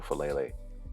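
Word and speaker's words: Faalele: So Daniel Falele is the pick.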